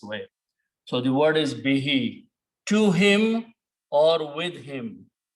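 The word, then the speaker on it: بِهِ: and read them together, because of the kasra sound here under B, we pronounce this who as he also.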